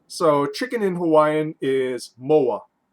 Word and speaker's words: moa: So chicken in Hawaiian is moa. In Hawaiian Pidgin English or Hawaiian Creole English, moa is how you say more.